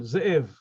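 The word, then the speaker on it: זאב: My name, Ze'ev. There is a shva na in the beginning under the zayin.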